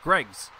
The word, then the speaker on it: Greggs: I believe it's pronounced Greggs. Thank you. Be the witch. It sounds exactly as it's spelled.